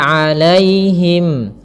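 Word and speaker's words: عَلَيْهِمْ: An'amta 'alaihim. Kemudian pada lafal 'alaihim. Alaihim di sini ada ya sukun yang didahului dengan fathah. Ini kita namakan dengan bacaan lin. Maka lembut dalam pelafalannya.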